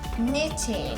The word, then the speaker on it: knitting: Knitting. That starts with the K. Ah. Okay. There you go. Little silent K action.